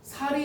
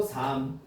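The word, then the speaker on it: 삶: 살이 아니고 삼.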